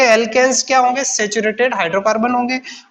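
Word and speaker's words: alkenes: में प्लस आएगा और एल्कीन स्पेलिंग को देखिए ANE और ENE और YNE, इससे आपको थोड़ा डिफरेंस साउंड में डिफरेंस है, एल्केन्स, एल्किन्स और एल्काइंस।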